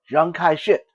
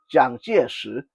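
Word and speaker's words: 蔣介石: Chinese government, Jiang Jieshi, I am not going to use his English pronunciation because a lot of people that speak English say Jiang Kai shit, and that just sounds really totally stupid and ridiculous. Okay, Jiang Jieshi is how he's supposed to be pronounced, and we're going to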